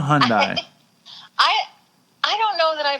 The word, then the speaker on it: Hyundai: Aurora, it's a Hyundai. It's not a Hyundai. I don't know that I believe you, Dave, but haven't you seen a commercial on it's a Hyundai.